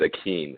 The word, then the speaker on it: Akin: It's just pronounced weird, so people messed it up when I was growing up. It's Akin, A-K-I-N.